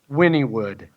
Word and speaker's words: Wynnewood: WEENWOOD or something? Yeah, there it is. I found it. WYNNE. And it's pronounced Wynnewood? Wynnewood.